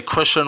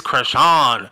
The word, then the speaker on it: Chrisean: and you say Christian rock and they're like it's not Christian say her name right it's cran so so Christian Chan